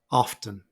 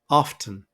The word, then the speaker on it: often: and the pronunciation is often again schah is uh it's quicker and quieter than the stressed syllable often now as you may know many people omit the T sound in this word so I've also included